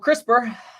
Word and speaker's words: CRISPR: v web anyway so crispr is up six percent today and this rhymes with crisper as fisker is up